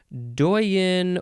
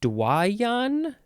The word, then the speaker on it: doyen: I'm getting very tired doyen is next doyin or dwayyan dwayian is that how we're saying this Dwyane I think